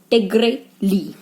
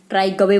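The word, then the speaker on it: Trygve Lie: जैसे कि first secretary general हमारे यूनाइटेड नेशंस के थे टिग्रे ली। इसमें वी साइलेंट है, ट्राई गवे मत बोल देना। इट्स टिग्रे ली who belongs to Norway.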